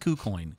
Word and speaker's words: KuCoin: No, it's pronounced KuCoin.